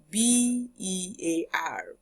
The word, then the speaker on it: bear: So now we have most questions especially in W putting together B E R and then B E A R. So B E A R is pronounced bear.